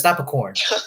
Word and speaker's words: Napakorn: I don't know if that's how you pronounce his last name because honestly, it kind of sounds like Napaporn, but it's Napakorn.